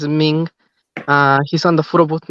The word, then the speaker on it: Minh: Ming. Yeah, that's actually Min, MINH.